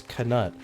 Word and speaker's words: Knut: The official canon pronunciation of nut in Harry Potter is Knut.